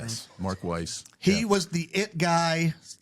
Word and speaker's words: Weiss: I think that's how you pronounce his last name. Yes, Mark Weiss.